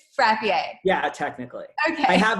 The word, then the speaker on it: Frappier: it was Frappier, like very. Yeah. So fun fact, in Watertown, if you pronounce it the right way, people think you're uppity. Ergo, why we just went with Frappier to avoid. So it is Frappier.